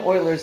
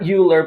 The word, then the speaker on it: Euler: we are working on euler's method today yes that's how you say it not not euler but euler and euler's method is